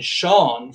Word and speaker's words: Sean: Like in Sean, for instance, it is silent. You don't actually say that E.